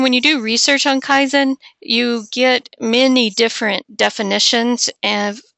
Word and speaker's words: Kaizen: a clear definition, but Kaizen is, 2 syllables.